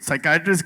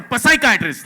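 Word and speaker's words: psychiatrist: But Javed ये साइकेटिस्ट की बात अगर किया इसमें तो व्हाई इज द P silent in साइकेटिस्ट?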